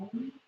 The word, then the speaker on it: Om: The pronunciation is letters A-U-M, or if you want to be fancy, A-O-U-M-M, silent G at the end, if you'd like to be extravagant.